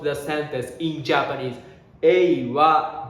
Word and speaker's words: は: When we writing, it's exactly HA, ha, though we pronounce wa.